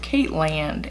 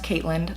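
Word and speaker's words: Caitland: is my channel called Kate land and the answer is it's not it is named Caitlyn yes it's pronounced kaitland like Ireland when I was in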